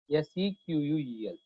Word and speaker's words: SQL: SQL means we have in the pronunciation, whenever you are talking, we should pronounce as a SQL. SEQUEL, but letter is SQL.